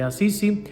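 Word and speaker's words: Assisi: este pequeño poblado de asís o en italia no se dice a sí sí por allá en el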